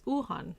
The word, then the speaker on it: Wuhan: this calling it the china virus or the wuhan virus okay which by the way is uhan that's how you pronounce it but the the wuhan virus or